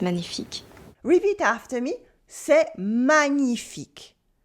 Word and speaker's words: magnifique: Or c'est magnifique or magnifique. That's wonderful. C'est magnifique. Repeat after me. C'est magnifique. Here we have the tricky ñ sound in the middle.